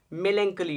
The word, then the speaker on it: melancholy: Melancholy, it means sad. Note the pronunciation of this word, it is melancholy and it means sad.